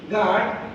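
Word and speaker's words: guard: পরের শব্দটি গার্ড, জি ইউ এ আর ডি, গার্ড, গার্ড তো পাহারা বা পাহারাদার, যিনি পাহারাদার যে কাজ করে সেটা হলো পাহারা।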